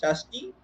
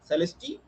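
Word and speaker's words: Salsette: Celesti, Thane, it is also pronounced as Shasti in Marathi. British pronounce it as Celesti.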